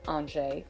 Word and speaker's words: Angers: thanks to my dog Angers, and headed for the door. I had named my dog Angers, pronounced Angers, which means angel in French.